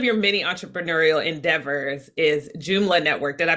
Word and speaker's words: Joomla: Well, so when I was doing a little bit of background research, one of your many entrepreneurial endeavors is Joomla Network. Did I pronounce it properly?